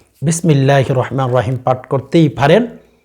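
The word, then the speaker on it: بسم الله: দেখেন স্ক্রিনে লক্ষ্য করেন বিস বিষ বলবেন না হ্যাঁ অনেকদেরকে দেখা যায় বিসমিল্লাহ বিসমিল্লাহির এই জায়গার মধ্যে বিসমিল্লাহ বলে এখানে সিন উচ্চারণ করেন এ কাজটি কখনো করবেন না নারী কিংবা পুরুষ সকলে সিন উচ্চারণ করবেন বিস বিষ বলবেন না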